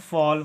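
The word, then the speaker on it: fall: होता है फ और ए के बाद अगर डबल एल आता है तो इसका उच्चारण होता है औ ठीक है और डबल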